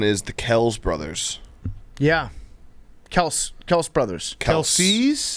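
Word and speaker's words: Kelce: for their entire careers his brother jason it's pronounced kels kels what yeah there's like a tick tock travis kelsey was saying that he's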